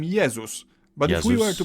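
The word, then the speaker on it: Jezus: favorite okay religious figure Jesus in Polish we call him yesus but if we were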